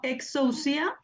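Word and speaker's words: ἐξουσία: ¿Por qué exousia y no exousia? Porque tenemos aquí Un el diptongo. diptongo. El dictongo. Excelente, por el diptongo.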